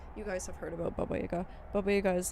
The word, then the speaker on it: Baba Yaga: Wick is Baba Yaga but it's Baba Yaga not Baba Yaga Baba like the Russians have like a whole thing about pronunciation and where you put the it's called udya in Russian but it's like the the punch what syllable the emphasis on which syllable.